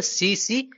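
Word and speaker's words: tsetse: है यह होता है सीसी फ्लाई टी इसमें साइलेंट है इसको बोलते हैं सीसी फ्लाई माइक्रो बायोलॉजी के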